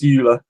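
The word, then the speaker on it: Euler: I'll give you the oiler one that wasn't the only thing I still think it should be pronounced EULA but his name's Oiler but it should be you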